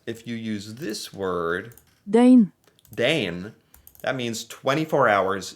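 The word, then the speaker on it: døgn: Dane. Dane. Dane. I forgot it has a pronunciation tool.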